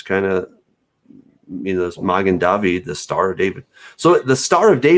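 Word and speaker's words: מגן דוד: a star okay the the mogan dovey heard magen david in in better hebrew pronunciation in my opinion um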